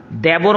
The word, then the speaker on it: দেবর: জানেন দেওর বলে না আসল শব্দটা সঠিক উচ্চারণ হচ্ছে দিবর আর দি মানে দুই